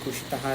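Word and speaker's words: उषितः: So that is why I think ushitaha is the right way to say.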